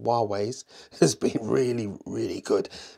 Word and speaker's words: Huawei: The battery life of Huawei's, I realise now I've been saying it wrong, Huawei's has been really, really good.